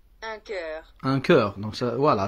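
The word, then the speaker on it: chœur: Alors, celui-là se prononce un cœur. Un cœur. Donc, ça, voilà, c'est ça. Ça s'écrit CH, H, mais ça se prononce un cœur.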